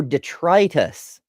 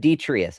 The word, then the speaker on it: detritus: Andrew says you're missing a T in your pronunciation. Oh, detritus instead of detritus.